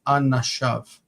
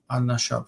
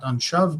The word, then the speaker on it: anashav: but once you put, because the stress is over here, but once you put an ending on it, like his, av, okay, suddenly the stress is here, so this syllable is not reduced, and it's anashav. Anashav, not anshav, but anashav. It would be the tendency to read it as anshav, but that's a mistake.